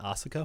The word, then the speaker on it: Asuka: Just say Asuka.